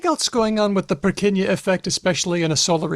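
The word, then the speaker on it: Purkyně: Well, in this case, no. It's spelled Nje, but it has the ñ sound. Okay. Named after Jan Evangelista Perquiña.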